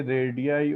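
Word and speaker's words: radii: रेडियस है तो हम लिखेंगे रेडियाई of same circle, same circle. ठीक है, प्लूरल जो रेडियस का होता है उसको हम रेडियाई बोलते हैं, स्पेलिंग ये होती है।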